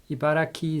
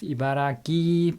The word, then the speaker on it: Ibaraki: an interesting fact is that I read that Ibaraki is actually pronounced Ibaraki by some locals and it is because of